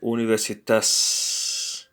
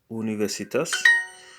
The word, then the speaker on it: universitas: I said uh and universitas how do you say University it's universitas so University is University of thus it's not universita it's universities Philadelphia foreign so how